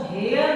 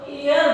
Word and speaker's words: heir: एक ऐसा ही वर्ड और है HEIR, इसको हेयर ना बोल करके हम इसको एयर बोलते हैं। इसका जो एक्चुअल प्रोनाउंसिएशन है वो है एयर, जिसका मतलब होता है उत्तराधिकारी।